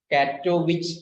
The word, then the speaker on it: Katowice: വേണമെങ്കിൽ ബ്രാക്കറ്റിൽ എഴുതിയോ കാറ്റോവിച്ച് എന്നാണ് വായിക്കുന്നത്. നമ്മുടെ കെ സാധാരണ വിച്ച് തന്നെ കുറയില്ല, ഈ ആ വിച്ച് pronounce ചെയ്യുന്നതാണ് കാറ്റോവിച്ച്.